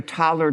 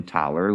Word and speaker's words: Taler: And the idea is that you get your Thaler tokens from some central organization, although there might be more than one.